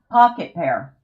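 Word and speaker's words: Pocketpair: Pocket pair. It's pocket and pair. P A I R. But all one word.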